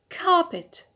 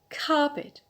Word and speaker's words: carpet: alt affair the next noun is the noun carpet carpet so here we have a short vowel so it's on the penalty rule to a carpet the next noun is